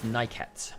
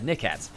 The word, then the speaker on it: Nyket: the players walked out, it's Nyket, and that's what we're going for. Now, we've always said Niket, so we are trying to change our pronunciations.